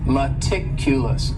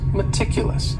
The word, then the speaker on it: meticulous: word is meticulous and this word has four syllables and the stress is on that second syllable meticulous meticulous that first syllable also has that schah that uh sound that reduced vowel sound meticulous this is another